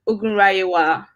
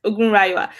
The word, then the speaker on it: Ogunrayewa: There's a Y-E-W. So it's Ogunrayewa. Ogunrayewa. Yes, Ogunrayewa.